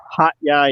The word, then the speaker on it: Hat Yai: I'm sure it's not pronounced hat, but Hat Yai. Yeah. Hot Yai is, which sounds a lot like hot guy, I guess.